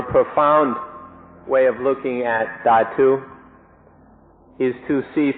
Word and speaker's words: dhatu: In English, it's usually spelled dhatu, and so I sometimes say dhatu. In Thai, it's pronounced thatu, so that's why I mix these up.